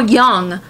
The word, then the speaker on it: Jung: talk to us now Carl Young or Jung if you want to do the American pronunciation but we'll we'll go with his native one of Young Carl Young said